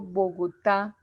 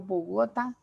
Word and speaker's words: Bogotá: sílaba tónica por ejemplo cuando yo digo bogotá chiquinquirá la sílaba tónica es la que lleva la fuerza de acentuación yo lo digo bogotá ni bogotá sino bogotá y es